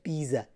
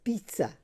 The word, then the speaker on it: pizza: So it's not pizza, it's pizza, pizza. So you pronounce it with me. How do you pronounce it? Pizza, pizza, pizza. So three things. Number one, the stress is on the first syllable.